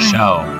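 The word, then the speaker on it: Xiao: Shao. That's how you pronounce it.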